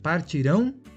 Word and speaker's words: partirão: Tem uma mudança aí de sílaba tônica, né? E além da mudança de sílaba tônica, também o futuro se escreve com AO e o pretérito com AM no final.